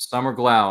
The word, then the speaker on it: Summer Glau: And one of the ones who just recently joined us, Miss Summer Glau, right there. I sure hope I pronounced her name correctly. Did I pronounce it correctly, Ryan? Yep, Summer Glau.